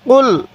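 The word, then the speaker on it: قُلْ: কফ লাম পেশ কুল। এই কফটা উচ্চারণের সময় গলার মধ্যে হালকা ধাক্কা দিব, তাহলে এই কফটা সহি উচ্চারণ হবে।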